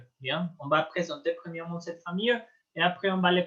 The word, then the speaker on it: famille: Le famille Gainsbourg est un véritable famille d'artistes. Famille. La double L ne se prononce pas.